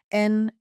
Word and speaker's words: NXIVM: In 2011, Katherine brought her daughter India, then 19, to a workshop in California hosted by a company called NXIVM, pronounced like Nexium.